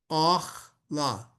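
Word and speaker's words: אָכְלָה: Elecha Ve'haya Lecha Ve'lahem Le'ochla Ochla. See, that's kametz katan.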